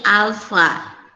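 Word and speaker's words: α: Ini bukan A. Bacanya ini alfa.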